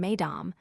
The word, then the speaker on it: mesdames: in the same way mesdames becomes slash mes, dames, with the first syllable rhyming with says and the second, which bears the accent, with games in place of mesdames a